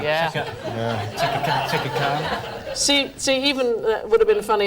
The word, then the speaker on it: Chaka Khan: Shaka Khan. Yeah. Chaka Khan.